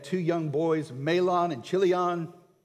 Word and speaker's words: Chilion: They had two young boys, Mahlon and Chilion, or Kilion, depending on how you want to pronounce it.